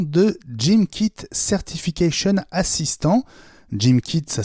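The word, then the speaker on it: GymKit: porte le nom de jean kit certification assistant jim kit ça s'écrit j' y mk i té c'est le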